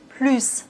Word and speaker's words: plus: Ici, on doit prononcer le s plus.